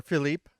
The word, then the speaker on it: Philippe: Yes, but he goes on to tell us that his pronunciation is actually Philip, and he spells it out phonetically for us, and FILL up UP Philip.